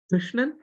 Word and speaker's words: Krishnan: see the right word Krishnan, the ru sound, which is neither ri nor ru. Of course, in Tamil we write as ki ru, but when you pronounce it, it becomes kr.